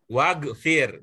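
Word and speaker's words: واغفر: Ada wa-nya disambung. Gimana jadinya? Wagfir. Berbunyi enggak hamzahnya? Enggak. Nah, itulah dia. Jadi, hamzah wasol.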